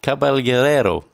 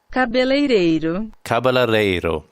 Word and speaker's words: cabeleireiro: They would be paraíso, constipado, word number 2, funnily enough, and caballeiro. Let me just see what the lady, how she pronounces this. Hold on. Cabeleireiro.